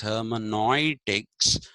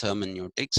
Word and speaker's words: hermeneutics: by the germans and germans pronounce eu as oi so hermeneutics is what they say but the actual this thing is hermeneutics i'll pick this up